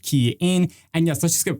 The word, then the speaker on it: Kian: hey everyone it's game for the rer guy pronounced key in and yes let's just get right into this